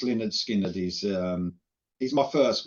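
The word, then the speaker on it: Lynyrd Skynyrd: which was very cool but yeah pronounced Leonard skinnard is um he my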